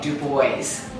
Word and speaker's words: DuBois: by Louis the 14th they disavowed that hugenot Heritage in that duo pronunciation and it became du boys he was a Jersey